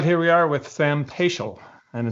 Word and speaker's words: Paschel: All right, here we are with Sam Paschel, and it's a good thing I checked with him on the pronunciation because I would have said Peschel.